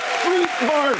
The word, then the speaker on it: Strétbarth: Street barf. Yeah, Pronounced street barf.